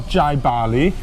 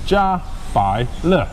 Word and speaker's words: Jiabaile: This is not Jiabaile, it's not Jiabaile, it's not whatever you guys are saying. This is Jiabaile.